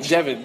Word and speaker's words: Devon: So it's like Devon, like the county.